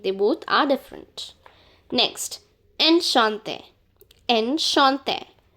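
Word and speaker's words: enchanté: N Shante. Ensh Shante. N Shante. Enshante. This E is not pronounced. Just this E is pronounced since it has an accent on it.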